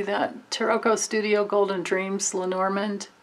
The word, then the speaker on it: Lenormand: taroko studio golden dreams lenormand or lanerman is really the way you pronounce it oracle cards i honestly